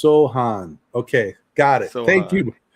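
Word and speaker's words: Sochan: He said it's pronounced Sohan.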